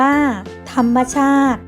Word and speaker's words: ธรรมชาติ: อธิบาย เรื่อง ให้ ฟัง ธรรมชาติ อ่าน ว่า ธรรมชาติ หมาย ถึง สิ่ง ที่